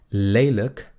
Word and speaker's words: lelijk: Luego tenemos lelijk, lelijk. ¿Se dan cuenta? L-I-J-K es luk. Lelijk, lelijk, lelijk.